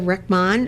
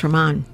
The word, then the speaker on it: Rehman: Rechman, who is a trustee with the Muslim Center of Long Island. And it's, I mispronounced your name. It's Rehman. Rehman.